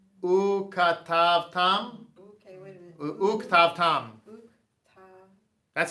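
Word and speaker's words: וּכְתַבְתָּם: those kind of things, all languages have this kind of stuff where if you're going to sign this out, it'd be like ketavtam, but the way it's actually That's pronounced, an and. right, the way it's actually pronounced is uktavtam.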